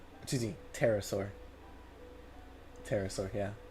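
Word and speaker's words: pterosaur: They are described as being chimeraike creatures around 3 m tall with the wings of a Petraur, excuse me, terasaur. Terasaur. Yeah, the P is silent.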